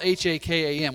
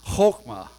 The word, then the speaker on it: Chokmah: I've seen it pronounced, it's spelled H-A-K-A-M, which I, as an English speaker, would say Hakam, but as I studied, it's actually pronounced Chokmah, with a hard K-H at the front.